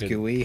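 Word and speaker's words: GUI: can get the box do you pronounce g-u-i as gooey put this there for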